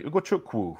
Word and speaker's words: Ugochukwu: Ryan, Leslie Ugochukwu. Even better if you pronounce it correctly. Ugochukwu from Rennes, 27 million.